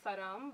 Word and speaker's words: Sharam: So my name is Saram, but it's Sharam. People here call me Sharam. See, that's why she corrected me. I'm sorry. That's the wrong way to say it, because the H is silent. Ah. So it's Saram instead of Sharam.